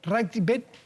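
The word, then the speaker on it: Rathgeb: ¿Cómo se pronuncia? Ragbet.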